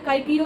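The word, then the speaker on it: Cicero: और tattered coat मैंने पहले बता दिया, काइकीरो इंस्टेड ऑफ साइसीरो। इसका मतलब ये है कि रॉल्स्टन कहता था कि प्रोनाउंसिएशन चेंज करो, तो चिप्स कहता था कि बहुत अजीब लगेगा कि हम साइसीरो को बुलाएंगे काइकीरो और किस से बुलाएंगे, विसिज्म से, ठीक है।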